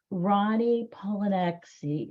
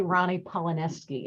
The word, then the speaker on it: Ronnie Rolaneczky: hard no it's actually Ronnie paleski if you pretend that the CZ is an S all is well hesi yeah yeah yeah